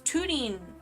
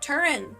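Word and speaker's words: Túrin: It's Tudin. It's not Turan. It's Tudin.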